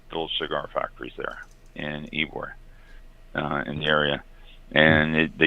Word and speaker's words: Ybor: And for those of you out there in the listening world, Ybor City, and it's spelled Y-B-O-R, is pronounced Ybor.